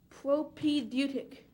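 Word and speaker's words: propaedeutic: a sentence please reading is a propic skill propedeutic is this a Greek word correct propedeutic p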